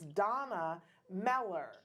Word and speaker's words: Dana Meller: Okay, so I have been saying her name wrong. It's Donna Meller.